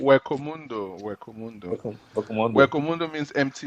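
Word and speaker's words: Hueco Mundo: Ukumondo, or what do you call it? Am I pronouncing correctly? Wekomundo.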